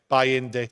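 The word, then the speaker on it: Bayındır: And then I look at the goalkeeper, Bayende, whatever. I mean, if my pronunciation's not right. Bayende, thank you.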